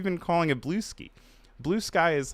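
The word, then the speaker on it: Bluesky: Um Tracy says and it is not pronounced blue ski like I've been saying. What do you mean? How how how have you been calling it blue ski? Blue sky is like it's not a madeup word.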